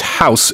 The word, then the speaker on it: house: things right it's not house exactly that was the first thing I was going to say it's not pronounced house it's pronounced house like a Z sound and what it means